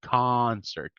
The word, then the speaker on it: concert: So we say concert, ka. Concert. Good. Remember, it's not o, not o.